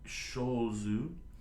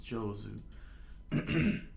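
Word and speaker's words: 上手: Like shozu. So shozu. Shozu na no de. Did I spell that right? Oh no, sorry, it's Jozu.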